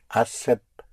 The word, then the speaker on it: aceptable: Acceptable is spelled with one C only in Spanish. Es aceptable. Yes, but I want to hear the ending.